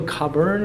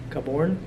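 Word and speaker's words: Cabourn: the nigel the nigel coburn or coburn i don't know how you pronounce his name copper caborne nigel caborn i think is pronounced he produced a couple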